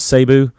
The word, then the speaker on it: Cebu: are wondering the the you just pronounce it seby right is it cebu yeah okay and it that is c e b uh so cebu